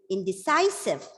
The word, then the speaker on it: indecisive: is indecisive indecisive the it's a word with four syllables so either the second or the third has to be stressed so here the stress is given on the third syllable and the word the pronunciation is indecisive indecisive you know what is